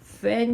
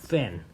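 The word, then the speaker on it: Föhn: 그래서 이 원래의 동일한 바람이 산을 타고 넘어갈 때 성질이 변하게 되는 현상을 우리는 팬 현상이라고 불러요. 팬 현상입니다. 팬. 이 땡땡이 O하고 E의 발음의 중간이래요.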